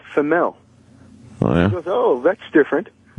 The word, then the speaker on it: Female: ...I had the honor of running in with this femelle. So i found out it was true story! They named her Femel and she still goes by Femell. It's spelled female That is great